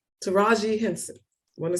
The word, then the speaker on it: Taraji: their slides real quick um Ava Duvernay and tyreeji how do you say her name Taraji Henson I want to say her name right